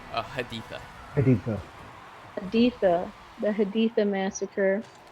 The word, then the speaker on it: Haditha: Um, so just a quick backtrack to um, Hidatha. Is that how you pronounce it? Haditha.